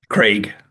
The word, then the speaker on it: Krieg: I I've I've forgotten how to pronounce uh your surname. Craig.